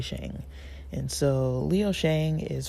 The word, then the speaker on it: Sheng: The L Word uh he pronounces his name Leo Shang he says that uh most Mandarin speakers would actually say sh but he says Shang and so he says that's how he introduces himself and so I will